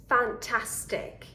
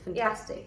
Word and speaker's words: fantastic: it gets reduced and we are very tempted to say fantastic fantastic yeah but it has to be fantastic fantastic right just like in